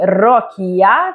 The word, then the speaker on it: Rokia: al firma copie di rokia Finalmente abbiamo capito che si pronuncia con la o aperta e e J Foster